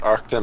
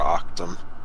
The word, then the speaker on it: Arcton: Is it pronounced Arcton or Octum? Arc. Okay. Like Arc.